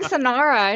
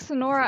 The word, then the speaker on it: Sonora: correcting me oh sonora i was saying sonara and they're like sonora i was like oh